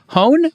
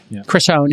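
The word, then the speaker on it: Hohn: well Chris hone I believe is how you pronounce his name chrisone he sent a letter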